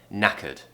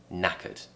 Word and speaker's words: knackered: cut now we have a schwa sound here okay so now Kurt Kurt Kurt okay so we're doing an earth sound in their tongue in the middle of the mouth relaxed now Kurt Kurt and it has to be said quickly knackered knackered and when